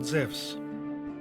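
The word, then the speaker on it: Ζεύς: wrong English translation because correctly he is called zevs in the Greek language ianu is pronounced like a w in the word wisdom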